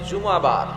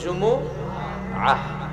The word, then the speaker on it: জুমুআহ: অনেকে বলে ফেলে জুমা, জুমা। আসলে আরবিতে শুদ্ধ উচ্চারণটা হচ্ছে জুমুআহ, সূরাতুল জুমুআহ।